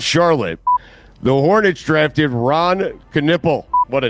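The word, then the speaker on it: Knueppel: I spent the whole time complaining about the last name thinking it should be spelled or pronounced canuple because that's how it's spelled. So they're going with Canipple, but I never even thought about the first name being the one that's entirely wrong.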